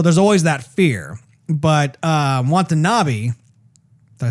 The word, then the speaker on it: Watanabe: But Watanabe, did I say his name right?